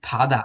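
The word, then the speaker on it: 바다: এটা আপনাকে বলতেছে কি ফাদা, আমি কিন্তু বাধা কইতেছি না। But বাধা বললে ওরা এজ ওয়েল বুঝে নিবে, বাট আপনি যদি অ্যাপ্রোপ্রিয়েটলি করতে চান তাহলে হবে এটা ফাদা।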